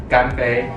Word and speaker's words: 干杯: 干杯，干杯，干杯干杯，干杯。